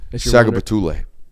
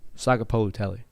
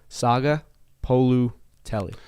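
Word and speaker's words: Sagapolutele: Saga Betule. Saga Polu Tele. Is that how you pronounce pronunciation, yes. That's on me. One more time? Saga Polu Tele.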